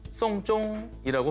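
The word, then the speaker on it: 送钟: 이 중국어로 시계를 선물하다는 송쫑이라고 발음을 합니다. 이 발음이 장례를 치르다라는 뜻의 송쫑과 발음이 똑같습니다.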